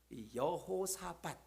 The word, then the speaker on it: 여호사밧: 오늘 말씀에 등장하는 여호사밧, 여호수아가 아니에요.